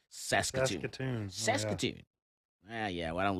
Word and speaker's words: Saskatchewan: i can't say that how you say it saskatchewan saskatchewan saskatoon yeah yeah i don't live in canada